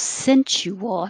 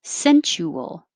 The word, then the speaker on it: sensual: virtue irresistible irresistible 30 it could be three syllables sensual but put that over here sensual or make it shorter which i think is more common sensual sensual 31